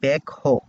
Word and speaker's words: ব্যাকহো: ব্যাকহো আসে নর্মালি আমরা সাধারণত এটাকে এসকেভেটর বলে থাকি কিংবা বেকো বলে থাকি। তো এটার আসলে সঠিক উচ্চারণটা হচ্ছে ব্যাকহো। তার মানে হচ্ছে এই ব্যাকহোর